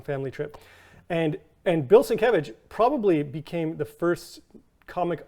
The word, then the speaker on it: Sienkiewicz: It's S I E N K I E W I C Z. Wow. So cool. And I know that because I pronounced it Sienkiewicz. Oh, Sienkiewicz. I said no.